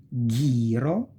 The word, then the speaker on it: ghiro: Ge and gi. Ge e gi. You pronounce like guest or geese. If that can help you, use whatever helps you to remember, okay? Margherita, ghiro, ghepardo e ghirlanda.